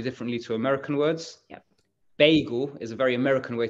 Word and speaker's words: beigel: I know the pronunciation, a lot of people say bagel and we'd say beigel. That's because the Yiddish, which is an Eastern European Jewish language, words are pronounced differently in different languages, right? So you'd say beigel. And it would be the Yiddish pronunciation.